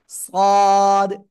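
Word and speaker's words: صاد: সদ, জিব্বার আগা সামনে নিচে দুই দাঁতের পেট ও আগার সাথে লাগাবেন, লাগিয়ে হালকা একটু আওয়াজ করে মোটা আওয়াজে পড়তে হবে।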